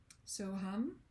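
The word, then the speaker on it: So Ham: Second word is, it looks like ham, H-A-M, but it's pronounced hum. So hum.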